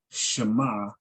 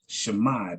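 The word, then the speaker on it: שמע: This is mostly what the Israelis, the way the Israelis speak, and it would be pronounced Shema, that ayin would be silent.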